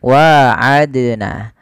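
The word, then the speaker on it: وعدنا: Jadi contoh misalnya bagaimana ee contohnya begini waadna. Nah, kesalahan yang terjadi membacanya sama tidak mantul. Yang pertama itu kesalahan dalam membaca qalqalah. Yang kedua diati menambahkan hamzah. Contoh yang pertama waadna tidak memantul. Yang kedua, menambahkan hamzah. Waadna itu menambahkan hamzah.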